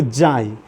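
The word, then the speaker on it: xi: ई के जैसे, इसको जाई। देखिएगा स्पेलिंग, इसका एक्स आई लिखा जाता है।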